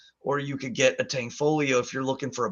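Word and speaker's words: Tanfoglio: that's super underrated is tankfolio it's spelled Tang foglio but tangfolio uh pistols are super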